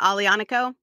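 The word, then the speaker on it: Aglianico: to say it is it is it that alianico is that how you say it yeah yeah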